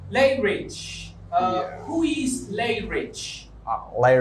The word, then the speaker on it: Lay Rich: Is it lay or lie? Lay Rich. Lie Rich. But people who don't speak people who speak no, you English, as an English speaker. I say Lay Rich.